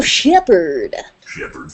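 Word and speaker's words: Shepard: shepherd shepherd the female Shepherd so yes I didn't say say it like uh an idiot I just said say Shepherd okay yeah but it's a female Shepherd it's two syllables shepherd shepherd anyway so yeah they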